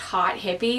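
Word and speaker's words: Haute Hippie: I think it's pronounced Hot Hippie. It's, you know, H-A-U-T-E, but yeah, it's completely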